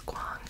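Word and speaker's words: Kuang: her last name so I looked it up and it's Quang babble beautiful cover and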